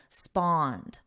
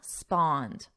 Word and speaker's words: spawned: Notice that pronunciation. Our vowel is on spawn, spawn, and then a soft D for the past. Simple spawned. Try that. Spawned, spawned.